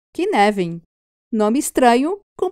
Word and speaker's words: Cynefin: E aí que entra o modelo Cynefin, que se escreve Cynefin, mas que se pronuncia, pasmem, Cynefin.